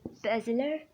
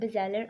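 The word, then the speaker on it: basilar: और बेसिलर या बेज़ेलर आर्टरी की डिफरेंट प्रोनाउंसिएशन होती है। बेज़ेलर पढ़ लेते हैं हम इसको।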